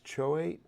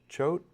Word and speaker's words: Choate: Patch I guess it's Choate help me out with that Chote Myersville arnicville El Oso zunkerville and koi City c-h-o-a-t-e Cho at is how it's spelled I bet it's not pronounced choat Cho let me guess